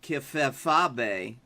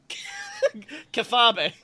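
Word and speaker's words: kayfabe: That is pronounced Kefefabe. Kefabe.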